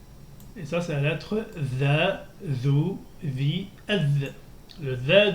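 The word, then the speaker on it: ث: Donc, et ça, c'est la lettre THA, THU, THI, ETH. Le THA, THU, THI, ETH, c'est un peu le THE anglais. Hein. La lettre THA se prononce comme le THE anglais.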